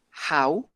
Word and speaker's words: how: h que es house este se pronuncia con una j house y con un agua al final y este en su uso